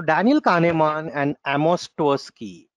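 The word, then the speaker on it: Tversky: So like, not अवर्स्की, it's actually ट्वर्स्की, right, I गॉट the spelling wrong, ट्वर्स्की, right.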